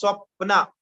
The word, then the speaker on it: Swapna: Swapna is pronounced as Swapna. Swapna.